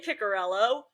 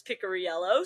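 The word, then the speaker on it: Picariello: Like half of the broadcast say Picorello, which is what I thought it was, but he informed us it's Pickoryello, so now we say that correctly.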